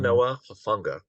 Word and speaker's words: Talanoa Hufanga: So I'm going to go with my number eight is I'll try to pronounce his name even better than what you did. Mm, Talanoa Hufanga.